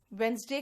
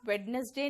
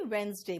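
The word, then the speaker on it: Wednesday: है ठीक है देखिए वेनसडे का हो गया वेडनेसडे नहीं वेनसडे बोलना ठीक है बिल्कुल सी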